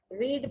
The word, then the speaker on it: read: रीड पहली form है रेड, रेड second and third form. वैसे इनके स्पेलिंग तीनों के एक है लेकिन पढ़ने में रेड कहा जाता है।